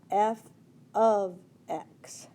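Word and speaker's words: f(x): you say it is f of x that's how you say it so you're going to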